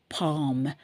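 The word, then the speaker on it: palm: தெரியும் அது மாதிரிதான் பாம் அந்த எல் வந்து நம்ம உச்சரிக்க மாட்டோம் பிஏ எல் எம் ல வந்து பிஏ எம் பாம் அவ்வளவுதான் சொல்லுவோம் எல்லை சொல்ல மாட்டோம் இல்லையா பாம் ஆயில் எதுல இருந்து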